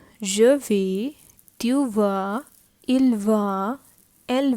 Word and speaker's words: vais: This is VAIS, je vais.